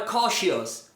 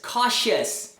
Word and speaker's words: cautious: ou s em inglês, não vai ser o som de não é famous, não é dangerous, não é cautious. é famous, dangerous, cautious. Então, toda a palavra que terminei o U vai ser pronunciada como us.